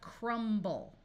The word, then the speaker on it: crumble: But sometimes the B will take on a sound when you add other letters to the end in a suffix. Like here we have crumble.